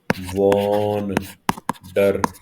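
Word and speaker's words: wander: देखो जी, यहाँ पे दो शब्द आए हैं, एक है वॉन्डर, वॉन, वॉन डर, वॉन्डर।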